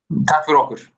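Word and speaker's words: takk fyrir okkur: Tak for okkur. Yeah. I will not try to pronounce this.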